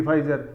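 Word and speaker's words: Pfizer: फाइजर है ठीक है फाइजर बोल देते प साइलेंट रहता है फाइजर सन सिपला मैनकाइंड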